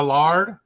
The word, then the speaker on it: lord: Talk to me about how you ended up becoming a Sir Lord. If you are a landowner in Scotland, you get to become a lord, or technically how they say it, a lard.